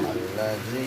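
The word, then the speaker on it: الذي: Alladzialnya fokusin allzi yang berikutnya alladzi dalalnya ditipisin gigit alladzi bukan alladzi jangan sampai enggak digigit jadi zai alladzi yang diminta yang paling tipis alladzi ada dua huruf yang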